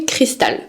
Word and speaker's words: Christus: Elle s'est justifié en me disant que officiellement ça se prononcerait cristal.